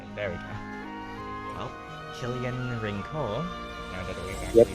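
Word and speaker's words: Rinceoir: yeah I just there we go well Killian rinkle that we actually said his name and they're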